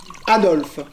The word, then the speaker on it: Adolphe: s'écrit avec un f alors que le mien le adolp français s'écrit pH e enfin c'est pareil F pH c'est pareil je pensais que pour